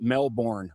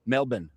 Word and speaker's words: Melbourne: It's your plane it's not pronounced Melbourne, okay? Melbourne? Mel-bin. Mel-bin? And Mel-bin I don't I don't know.